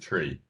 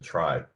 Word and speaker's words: trie: the tree is it is it pronounced tree or tray um i happen to be uh the student of the guy who invented this in like the in the 60s and he pronounced it tree most people these days pronounce it try at least at least around these parts um uh mostly to distinguish it from you know generic trees yeah definitely yeah so